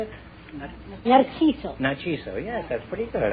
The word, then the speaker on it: Narciso: Narciso.